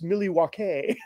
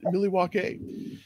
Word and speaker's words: Milwaukee: You know, in actuality, it's Millie Walkay. Yeah. That's right, Pete. It's pronounced Millie Walkay.